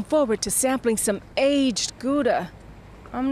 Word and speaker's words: Gouda: to sample some aged gouda and especially without it costing an arm and a leg foreign in Dutch they pronounce it houda hide that back home go